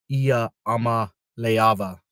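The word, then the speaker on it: Iamaleava: of the struggles that you'll see from Nico iama leava there you go on the pronunciation there so um I don't know I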